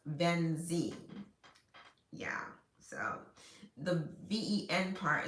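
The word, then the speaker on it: VNX: Um, and it's spelled V N X as in X-ray, I I pronounced Venzie.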